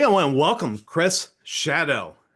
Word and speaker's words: Szado: Today I want to welcome Chris Shadow. And it's not spelled like it sounds. It's a wild name. SZ A D pronounced Shadow.